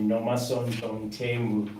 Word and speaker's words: Nomasonto Mthembu: I want to pronounce this name correctly. Nomasonto Mthembu.